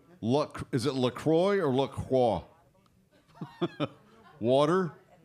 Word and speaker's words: LaCroix: family friends how do you how do you pronounce look is it Lacroix or look wha water it's Lacroix hey